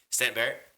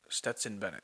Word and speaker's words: Stetson Bennett: Stanton Barrett. I don't know what sport. The NFL. No, NFL, college football. Stanton Barrett? Am I saying it right? Stetson Bennett.